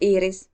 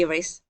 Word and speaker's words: Iiris: My name is Iris. If you can't pronounce that, you can call me Iris, and I use they them pronouns.